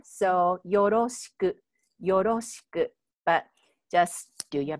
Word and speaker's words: よろしく: And I use R, you know, the spell, the alphabet, but we actually don't have that sound. So it's a little bit different, but just, you know, it's kind of like in between L and R.